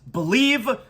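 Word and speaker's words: Bleav: now part of the believe podcast Network it's it's spelled b-l-e-a-v but it's pronounced believe so really excited today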